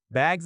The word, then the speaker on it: bag: The word bag has a short vowel sound like cat. But bug has a different vowel like cup.